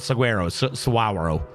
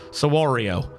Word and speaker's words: saguaro: fruit saguero sorry Saguaro I've been told that I'm saying it wrong it's not saguero sawario um strings these are